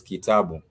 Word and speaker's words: Kitabu: I am talking about a name such as Kitabu. Ki, ta, bu. Those are 3 syllables.